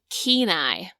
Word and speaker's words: Kenai: his name is pronounced keenai almost like you have a Keen Eye For Something Keen Eye it's tough